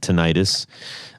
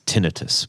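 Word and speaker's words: tinnitus: worried because I thought it was uh tinitus also called tenius um uh apparently the correct pronunciation is tinitus but uh um which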